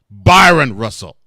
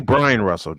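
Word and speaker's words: Bryon Russell: do now Byron Karen Byron Russell Brian no it's actually Brian Russell just spelled with an O it's actually Brian Russell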